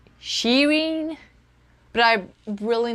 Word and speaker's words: Shirin: girl who is named Shireen yeah but it's pronounced like she read so it's like Shireen I guess because I think that I'm saying Shirin and it's not right